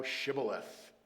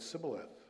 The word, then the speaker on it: Shibboleth: If he said no, verse 6, then they would say to him, say now Shibboleth. But he said Sibboleth, for he could not pronounce it correctly.